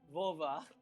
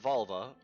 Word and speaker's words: Vova: I play Vova. Now that's Vova, not Volva, but Vova. Or Volvo. Vova. Or Volvo. No, Vova. It's Vova.